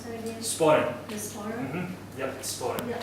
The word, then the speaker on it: sporran: How do you pronounce that again? Sporran.